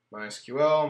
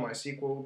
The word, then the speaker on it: MySQL: and see the connections mysql my sequel depending on how you prefer to pronounce it more ability to be